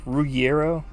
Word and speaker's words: Ruggiero: Ruggiero.